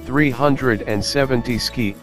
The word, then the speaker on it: 370Zki: the three seven zero ZK I pronounced 370 ski is the end result